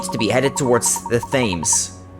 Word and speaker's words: Thames: be headed towards the Thames themes themes isn't it yeah let's follow them and rescue a speller right you are a professor Thames not themes okay Thames okay